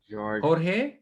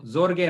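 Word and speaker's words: Jorge: South আমেরিকাতে হোর্হে, এটা কিন্তু জোরগে না, যখন জে দিয়ে নাম হয় উচ্চারণটা, এটা হোর্হে বলে আর কি, এইট উচ্চারণ হয়।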